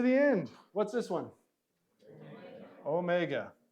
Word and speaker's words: Omega: end what's this one Omega not o w this is Omega and we already said